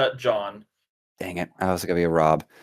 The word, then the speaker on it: Jean: Yeah, it just says John. Dang it. I was going to be a Rob. But it says Jean, but he pronounces it John. How dare you, sir? Oh, a fellow Jean.